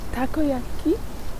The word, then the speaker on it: takoyaki: magique donc là on va aller manger des takoyaki c'est comme ça qu'on prononce on va essayer de pas se faire